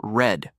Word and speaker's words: read: It's spelled the same, but we pronounce it read.